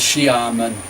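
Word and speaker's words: Xiamen: my university that is Sharman pronounced Shyama and university x i'm davina xin chinese is a ship sound as in she that he's chairman pronounce she Armen University in the south of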